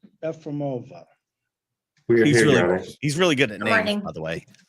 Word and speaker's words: Yefremova: Did I pronounce that even halfway correctly? like the country Kenya with an S, Yefremova.